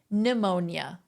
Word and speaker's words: pneumonia: is strong range pneumonia the first n is silent are you guys pronouncing